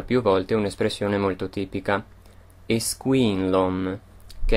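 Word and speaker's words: Is cuimhin liom: canzone viene ripetuta più volte un'espressione molto tipica esquin Lom che è anche il titolo del brano e vuol dire io ricordo o mi ricordo io la pronuncio alla maniera del Monster Quindi ripeto is Queen Lom Ma nella canzone sentirete più una modalità da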